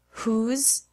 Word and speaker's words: whose: what when and where but there are a few exceptions in which the W is silent who whose and whole there are also some